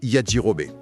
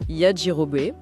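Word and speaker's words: Yajirobei: Voilà, le premier de ces deux protagonistes, c'est Yajirobai. Et on doit bien prononcer Yjirobé et on doit utiliser son nom complet, hein. D'accord ? Yirobé.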